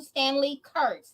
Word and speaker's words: Stanley Kurtz: Yes, guys, let me tell you who Stanley Kurtz. Did I pronounce that correctly?